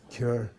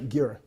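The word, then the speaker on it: གྱུར: Ka, ka, kyur. Okay, it's not gyur.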